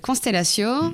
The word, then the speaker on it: Konstelatio: Donc cette ONG, elle s'appelle Constellatio. Alors ça s'écrit Konstelatio.